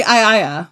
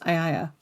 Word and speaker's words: Aeaea: Well, it's actually Iaea is how it is how it's pronounced. Iaea.